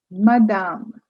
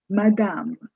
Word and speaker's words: madame: Here the stress is on the second half of the word. So you say madame. You don't say madame. No, it's madame. The first ma is short and the next half is slightly longer, more stressed.